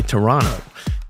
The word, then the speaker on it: Toronto: Later in today's episode, San Francisco, Austin, Miami, Toronto, or as the locals say, Toronto.